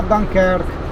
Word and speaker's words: Dunkerque: Il navigatore mi ricorda che Dunkerque si pronuncia Dunkerque.